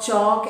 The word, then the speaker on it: chalk: If L comes between A and K, L is silent. Walk, talk, chalk, etc.